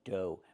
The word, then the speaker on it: dough: Pronunciation, dough. Make the long O like no and go, and the GH is silent.